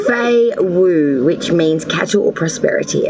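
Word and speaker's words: Fehu: Your ruin is pronounced Fei Wu, which means cattle or prosperity, Aries.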